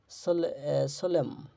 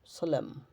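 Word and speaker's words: solemn: শব্দের শেষে এমএন থাকে শব্দের শেষে এমএন থাকলে এরপর কোন vowel I ই ও আই ও ইউ এ ই আই ও ইউ না থাকলে এন এর উচ্চারণ হয় না যেমন সলেম সলেম গুরু গম্ভীর হচ্ছে কনডেম কনডেম ড্যাম ড্যাম হাইম হাম আটাম এরকম শেষের এন উচ্চারিত হবে না আচ্ছা এম এন থাকলে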